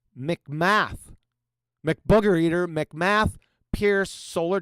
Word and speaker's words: McMath: McMath.